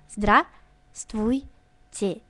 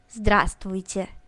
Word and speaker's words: Здравствуйте: Il faut quand même ouvrir la bouche et prononcer tout correctement sans manger les sons. Donc, tu prononces Здравствуйте. Здравствуйте.